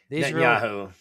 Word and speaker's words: Netanyahu: I pronounce I can't pronounce his name but help me out here. Netanyahu.